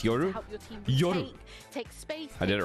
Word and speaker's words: Yoru: FNS, can you pronounce Yoru? Yoru.